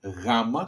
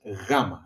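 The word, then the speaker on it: γάμμα: If you see here in the pronunciation gamma soft g like in yes gamma gata okay gata is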